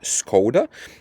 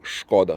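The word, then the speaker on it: Škoda: it's a sh so some people like in the UK and you in America they pronounce is scod we say shod so this is for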